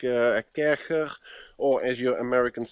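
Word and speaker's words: Kärcher: low for like a kercher or as your Americans say, a karcher, high pressure washer. It's Kercher, by the way. It's not karcher. It's German, Kercher.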